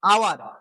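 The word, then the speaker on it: hour: তাহলে দেখো আওয়ার, এখানে হাওয়ার আমরা বলি না, হয়ের সাউন্ড আমরা আনি না, অয়ের সাউন্ড আনি, আওয়ার অ, অ আসছে মানে এ, তাহলে এখানে আমার অ্যান হবে।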